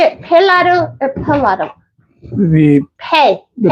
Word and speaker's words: Pelado: But you say it pelado or pelado? The pronunciation is pelado.